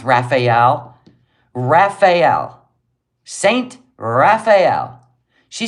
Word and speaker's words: Raphael: oh you can spell road but you can't pronounce Raphael Raphael St Raphael she said s St raffel she doesn't even I mean it was even